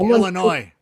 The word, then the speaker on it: Illinois: pronounce the S. It's like Illinois. Yeah, right. Exactly. The S is silent, stupid.